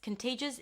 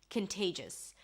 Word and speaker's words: contagious: Contagious is that it is passed from one person to another rather easily. Contagious. Here you pronounce it with a k sound at the beginning, a schwa and an n, kin, there is no o.